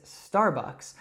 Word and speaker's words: Starbucks: Now, as I mentioned, I would say this Starbucks, but let's take a look at how Andrew would say it in her British accent.